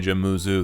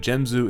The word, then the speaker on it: Jenzu: My name is Jenzu. You can call me Jammuzu. That's fine, too. But Jenzu is technically the correct way to pronounce my name.